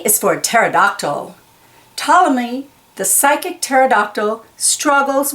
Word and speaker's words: pterodactyl: itchy see pterodactyl yep they pee is not sounded it's silent and the silent p on Ptolemy's and psychic and pterodactyl again and psoriasis q